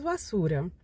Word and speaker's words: basura: E como o B ele não é normalmente não é muito bem pronunciado, por exemplo, bassura, não. Seria mais ou menos arrastado assim que se lembra mais ou menos um V. Então seria mais ou menos vassura.